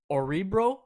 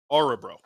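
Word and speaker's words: Örebro: want to say it the the o with an umla on it I believe is how you say it it's like a u that's why everyone everyone's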